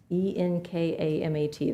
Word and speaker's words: ENKAMAT: And do you think how do you pronounce that? Enkamat? The ENKAMAT, that's in the detail.